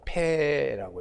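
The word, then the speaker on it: פ: 패라고 읽습니다.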